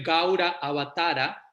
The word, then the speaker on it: Gaura Avatara: O sea, más puntualmente se escribe como lo acabo de mencionar, pero se pronuncia Gaura, se escribe Gaura Avatara, pero se pronuncia Gaura Avatar, y es otro nombre para Chaitanya, ¿no?